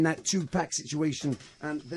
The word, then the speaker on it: Tupac: The correct pronunciation is Tupac. Tupac.